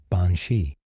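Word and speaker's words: bean sí: Bened, pronounced roughly bansi, translates directly to woman of the fairy mound.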